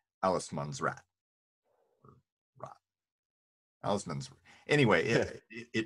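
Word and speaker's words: Allemansrätt: It's been a few years since I studied Swedish, but so I might butcher the pronunciation. But they have a concept called Allesmansrätt, or rat.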